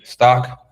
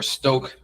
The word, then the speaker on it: Stoch: cool cool last indicator the stock or Stoke depending on how you pronounce it RSI so top